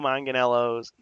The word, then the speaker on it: Manganiello: Joe Manganiello's, I forget to say his name the correct way.